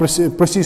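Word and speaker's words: précis: ये French word प्रियारिसी ऐसे प्रिसी से निकला है, असली एक्चुअली इसकी प्रोनाउंसिएशन है प्रिसी है।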